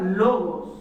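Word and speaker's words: λόγος: era el verbo y este término en griego es una palabra que se pronuncia logos el verbo es logos y Esta es una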